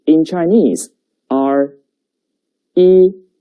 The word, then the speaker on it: 一: And the pronunciation is 一. 跟我读. 一. 一.